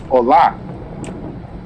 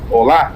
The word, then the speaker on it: Hola: Hola, I suppose. Hola. Hola. Hola. Hola. They don't they don't pronounce the H though, Adrian.